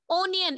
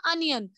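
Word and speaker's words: onion: असल में इसको पढ़ते हैं हम अनियन, लेकिन आपको कंफ्यूजन मत हो जाएगा इसलिए मैंने ओ पढ़ा। ठीक है, बताओ मुझे मीला, इसकी प्रोनाउंसिएशन है अनियन।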